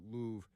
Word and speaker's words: Louvre: I know you pronounce it Louvre. The R-E, they're going to be silent like that, but Louvre, why not?